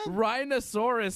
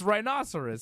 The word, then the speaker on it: rhinoceros: rhinoceros same thing man rhinosaurus sounds like some sort of dinosaur it's rhinoceros potato potato we always get into this you call it rhinosaurus you pronounced the the the animal rhinoceros a rhinosaurus same thing Dave not the same thing one's correct and one's not it's not potato potato